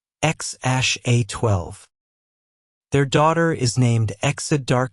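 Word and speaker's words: X Æ A-12: Their first son is named X A12, pronounced X ash A12.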